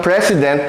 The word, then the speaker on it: president: this is President okay in the English language the S here is pronounced as Z this is President this